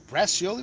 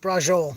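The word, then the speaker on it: braciole: What's this, Bracioli? What is that? Take a look, because it was a decent price. I believe that's pronounced Brajol.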